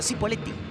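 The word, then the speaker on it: Cipolletti: chipoletti en el exterior que chipoleti es la pronunciación correcta Ahora no les gusta a los locales decirle chipoletti porque así les dicen los porteños entonces prefieren decir cipoletti Dígale a sus amigos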